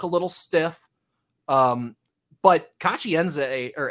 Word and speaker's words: Nzeh: So we've been calling Kachi Nzeh this whole time, like Z-A-Y. If you listen to him, he pronounced it more like Kachi Nzeh.